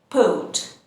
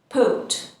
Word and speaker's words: port: And this is a port, port. In British English, again, we don't pronounce the R sound and we say port, port.